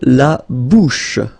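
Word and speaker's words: la bouche: So remember say ash combined together will give you this sh sound lab.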